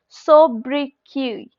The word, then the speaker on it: sobriquet: That's sobriquet. That means T is silent.